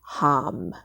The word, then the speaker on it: Ham: And a mantra for that is Ham, spelled like ham.